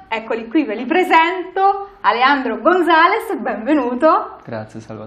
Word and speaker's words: Alejandro: Allora, io comincio con Alejandro Damian Gonzalez Hernández. Ma come si pronuncia veramente tutta sta roba qua? Perché la J non si pronuncia bene in italiano, quindi Spiegami si è bene.